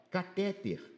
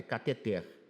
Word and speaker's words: cateter: Ó, catéter tá errado. É cateter já tá errado.